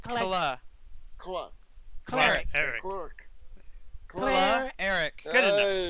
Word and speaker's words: Cleric: Cleric is 2 syllables. Just say I Claire. know. It's okay. Cleric. It's okay. Don't worry about how it's written. Just say Eric.